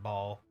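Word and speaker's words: Baal: boss in the whole game is Bale, is what we call him. It's spelled the same way, but pronounced differently because they just pronounced it Ball.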